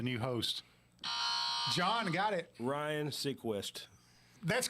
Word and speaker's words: Seacrest: Ryan Seacrest. That's correct. Ryan Seacrest is it. So John. Wait a minute. Now he pronounced the last name wrong.